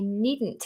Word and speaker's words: needn't: i needn't have worried the pronunciation needn't needn't needn't now oh this brings up a really um a really tricky little aspect of pronunciation uh it's called lateral plosive a lateral plosive is where so a plosive is a these explosive sounds sometimes these are swallowed into a lateral plosive so what we're